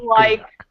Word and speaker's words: Krayak: It's pronounced The Works of Krayak.